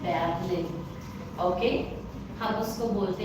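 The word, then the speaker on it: Berlin: air okay air like in English we से बोर्लिन but German में हम उसको बोलते हैं बैबलिन ओके हम उसको बोलते हैं बैलन ओके सो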